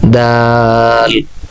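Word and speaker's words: دال: এর উচ্চারণ হবে 4 আলিফ টান হবে, যেমন দাল। আমি আবার উচ্চারণ করছি, দাল।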